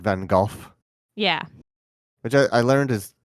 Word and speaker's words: Van Gogh: slightly pronounce the f it is almost like a V sound it's like a breathy V it's my new feminine